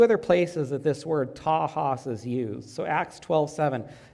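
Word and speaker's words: τάχος: It's the Greek word tahos, but it's spelled T-A-C-H-O-S.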